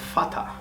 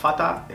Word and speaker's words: Vater: En alemán la V se pronuncia como una F. Como por ejemplo der Vater, el padre. Der Vater está escrito con V.